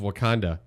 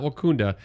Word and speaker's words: Wakanda: So she's being interviewed by the Hollywood Reporter, the assistant to the village mayor of Wakanda. Not Wakunda.